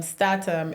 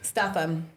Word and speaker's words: Statham: three Jason statam Stam statam is that how you say his name yeah Stam Statham you know what I'll